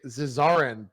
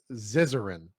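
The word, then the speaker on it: Zizaran: go with I've I I will mispronounce it and say zis aren but I think it's ziz uhrin it's how you would want it to be pronounced I think Co can't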